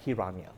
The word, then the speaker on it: Hiranya: I have Ilango and I have Hiranya.